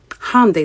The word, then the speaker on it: Hyundai: Hyundai. That's how you pronounce it.